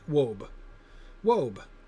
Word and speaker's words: wabe: it said it rhymes with robe? Okay, wobe.